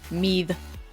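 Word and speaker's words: Meath: between ulster and mead it's spelled meat but i think it's pronounced mead when they had to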